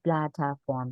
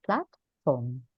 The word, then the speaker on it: platform: in platform which is a typical mistake to say Plata form but we say platform platforms a case and